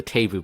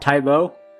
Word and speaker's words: Taboo: There's a sign that just says the Tabu building. It's spelled taboo, but it pronounce it tabu. It's like Tabu. It's a massive brothel. That's a different part of town. It's not Tybo.